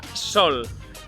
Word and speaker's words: sòl: estar sense companyia, estar sol, sol de solitud Sol, amb la Ò es pronuncia igual que els altres sol però significa terreny i